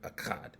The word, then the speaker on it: Achad: For those of you who can't pronounce that Achad word, Achad.